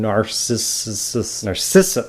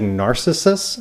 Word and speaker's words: Narcissus: And it's not only because I have trouble pronouncing Narcissus. I keep wanting to say Narcissus, and it's Narcissus.